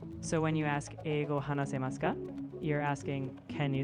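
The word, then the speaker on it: 話せます: The word you're thinking of is hanasemasu, where the U sound is soft or sometimes barely pronounced.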